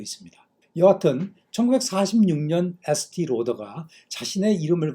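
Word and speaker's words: Estée: 도 있습니다 여하튼 1946년 st 로더가 자신의 이름을 건 화장품 회사를 창업하지 회사 이름을 지을 때 프랑스 어감을 주기 위해 st 알파벳 2에 프랑스식 액센트를 추가했다고 하는데요 발음도 티가 아니라 에라고 불렀죠 이것 때문에 지금도 st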